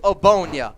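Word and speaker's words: Ogbonnia: and it's otito and yes this is the correct pronunciation the g is silent a bonya otito obonya i saw that name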